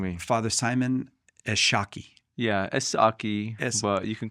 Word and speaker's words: Esshaki: Yeah, Esshaki, but you can call me whatever. Yeah. So, well, that's the thing is, it's an English pronunciation of Chaldean name?